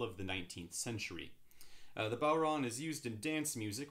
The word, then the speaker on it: bodhrán: instruments with matt today's featured instrument is the bauron that's right it's not pronounced bodron as i grew up thinking it was but